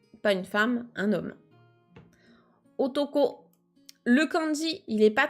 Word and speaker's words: を: le hiragana W mais comme c'est une particule en général il se prononce plutôt o donc il y a pas le W on le prononce pas